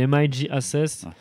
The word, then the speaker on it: MIJ Ases: Écoute, déjà, tu devrais le savoir, mais non, on dit MIG-Assess.